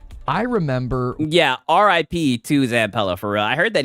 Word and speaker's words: Zampella: Zampella, okay.